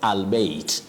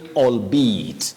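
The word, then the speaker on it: albeit: say albate we say albeat allbe albeat so don't pronounce this word the way it is spelled you say allbe allbe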